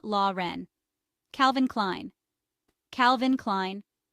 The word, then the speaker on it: Klein: Ren Calvin kleene Calvin Klein Klein rhymes with line Tommy hillfiger Tommy hillfiger